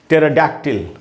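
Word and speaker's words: pterodactyl: उसके बाद दोस्तों ये एक वर्ड है टेराडैक्टिल, ये भी पी टी से शुरू हो रहा है, तो यहाँ भी पी साइलेंट है।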